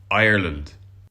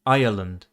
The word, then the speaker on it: Ireland: a clear R sound Irish dialects are Ric meaning that all of the r sounds are pronounced at least in most accents this immediately distinguishes Irish English from most varieties of British English in which R is not pronounced after a vowel unless it's followed by another vowel they say it more like Ireland some other features voiced